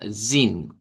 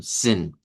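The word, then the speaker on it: zehn: Todos los vamos a poder decir con una i si usted lo desea o si quiere puede usar la otra pronunciación. Yo mi recomendación es que diga zin al final, pero si usted quiere sonarlo así también ya sabemos que podemos sonarlo como zen.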